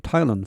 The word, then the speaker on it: Thailand: 여기 발음이 TH가 트와 같습니다. T 발음입니다.